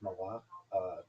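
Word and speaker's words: מלאך: So, the Hebrew pronunciation is malach, which translated as messenger or emissary.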